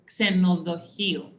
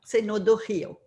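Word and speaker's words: Ξενοδοχείο: So the hotel in Greek is pronounced Xenodochio. Voilà, Xenodochio. Milos. Exactly. It's like KS, Xe.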